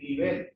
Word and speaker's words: nivel: se equivan límite y nivel son palabras heterotónicas. Así la tónica muda en relación a portugués. nivel, palabra aguda que termina en consoante que no ns no ten acento.